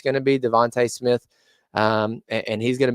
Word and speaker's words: DeVonta: We've never seen what Devontae looks like. Devonta, I guess is how I should say his name.